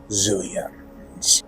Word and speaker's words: Xilians: race known as the Xilians. It's spelled with an X but said like a xylophone.